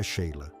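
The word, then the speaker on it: Sighle: James, Susan, Joanna, que fez uma transição bem-sucedida para a produção cinematográfica, e Sigle, cujo nome pronunciado foneticamente é Sheila.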